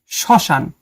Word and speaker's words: শ্মশান: পদের প্রথমে ম ফলা থাকলে সে বর্ণের উচ্চারণ কিছুটা ঝোঁক পড়ে এবং সামান্য নাসিক্য স্বর হয় মানে কিছুটা নাকে বাজে। যেমন শ্মশান আসলে এটার উচ্চারণটা এরকম হবে শ্মশান। শ্মশান।